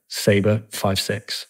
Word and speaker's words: Sabre56: sign out in Iraq so you would never pronounce it name numbers you know I was always uh saber five six for uh freeze of recognition so that's where